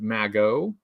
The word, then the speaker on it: Magot: The Cobra Maggot, which I believe in the French is pronounced Magot.